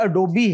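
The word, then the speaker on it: Adobe: होता है लेकिन कंप्यूटर साइंटिस्ट भी बहुत मिस प्रोनाउंस करते इसको यह एडोबी है दिस एडोबी और अगला जो लज है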